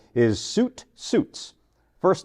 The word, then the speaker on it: Sjut: first name so my great grandfather's name is suit suits first name spelled sju t that's incredible